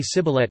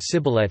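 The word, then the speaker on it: סִבֹּלֶת: by making them say Sibboleth, ear of corn. The Ephraimites' identity was given away by their pronunciation. Sibboleth. The apparent conclusion is that the Ephraimite dialect had s for standard.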